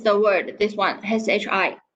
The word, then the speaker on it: 是: Okay, so it's the word, this one, SHI, 是. Okay, not she over there. 是. Put your tongue in the middle of your mouth.